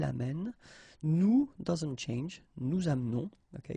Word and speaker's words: amenons: Nous doesn't change, nous amenons, okay, it's a silent her here, mute, amenons. Vous amenez, exactly the same thing, you don't pronounce this e, and then here back this change, so amène.